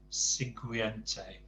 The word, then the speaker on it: siguiente: So Alguien and Siguiente. Don't forget, when it's GU followed by an I or an E, it's the U's just there to harden the G, so it's Siguiente.